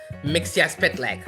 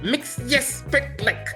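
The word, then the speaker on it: Mxyzptlk: use multiple dimensions, and I actually called it Mixia-Spitleg. So I spelled out the words, and I actually learned how to pronounce it. It was M-X-S-P-T-L-Y-K. Yep. Mixia-Spitleg.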